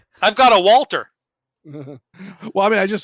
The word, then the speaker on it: Walther: which is Walter. I've got a Walter.